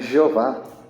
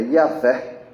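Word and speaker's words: Yahweh: E alguns erroneamente, né, até veio para a nossa Bíblia assim, chama de Jeová, é Yahvé. Talvez seja a pronúncia mais próxima.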